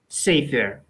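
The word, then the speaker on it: סֵפֶר: The tsere and the segol are both short vowels. So the first of the two short vowels is accented. Sefer.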